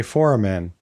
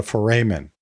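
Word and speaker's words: foramen: and by the way if you hear me say foran I'm really talking about a foran blame my Latin teacher if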